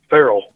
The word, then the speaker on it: Ferrell: the butt real quick your last name is pronounced how feral feral just like a feral rabbit cat